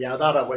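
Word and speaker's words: ידע: 안다 이렇게 히브리를 야다라고 읽는다고 그렇게 되어 있고요.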